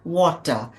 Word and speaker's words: water: thing but English W water water you know because there is a rule that if you have a vow before the r you R is not pronounced loudly it is soft so water so all these if